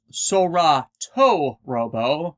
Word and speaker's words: Solatorobo: to this game earlier salato robo properly pronounced as sora toe robo meaning skies and robots